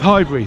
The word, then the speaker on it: Highbury: Arsenal fans are traditionally very quiet when they're supporting their team, and library rhymes with Highbury.